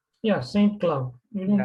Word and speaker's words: Saint Cloud: Yeah, Saint Cloud. You didn't Yeah, say Saint ST, Cloud. it's Saint Cloud.